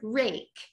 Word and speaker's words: rake: Rake has a silent E, right? That job of silent E or final E. It's not called silent E, final E. A syllable type. So rake is 3 phonemes, r, a, k, but it's 4 letters.